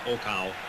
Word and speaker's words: Okao: problem with him but i understand he's pronounced okow he's a very famous